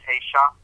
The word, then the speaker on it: Aisha: One is male, one is female, one is silent, one is speaking, but it's pronounced Aisha. We got a long A and a soft A.